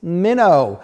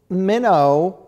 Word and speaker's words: Minnaugh: tantalizing tale of grace minnow which is your book and Anne grace minnow is spelled minnow is spelled mi and and a ugh but it also is